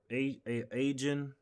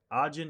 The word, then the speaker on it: Ajin: like uh like like Black Butler or a agent agent yeah ajin yeah ajin yeah they were ajin it's yeah pronounce art not agent Arjun uh but yeah